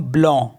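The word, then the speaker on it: blanc: ए एन सी तो last वाला सी को हम प्रोनाउंस नहीं करते तो इसको पढ़ेंगे हम ब्ल ब्ल मीस होता है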